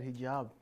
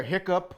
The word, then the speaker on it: hijab: hi Eric yeah good you said hijab correctly oh okay believe me there's a lot of people that say it wrong they say yeah yeah hiccup or something like that whatever I don't know